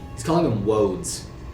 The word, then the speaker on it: woads: Like, He's calling them woads. Is it spelled like roads, but with a W? It is. Okay.